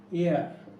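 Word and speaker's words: heir: উত্তরাধিকারী ইংরেজি উত্তরাধিকারী এর ইংরেজিটা হচ্ছে এয়ার, উচ্চারণটা হচ্ছে এয়ার। আমরা সাধারণত হেয়ার বলি, কিন্তু হেয়ারও বলতে পারো, কিন্তু উচ্চারণটা হয় এয়ার।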